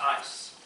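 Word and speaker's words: εἰς: the greek it is ice e-i-s that is pronounced ice and it means because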